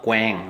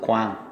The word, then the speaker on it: Quang: Q-U-A-N-G, okay, it's not Quang, okay, people always say Quang restaurant. It's Vietnamese, it's pronounced Quang, Q-U-A. A is in Vietnamese called A, Quang, Quang restaurant, not Quang.